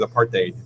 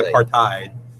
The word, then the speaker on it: apartheid: apartheid, which I found the right way to say is apartheid. We say apartheid.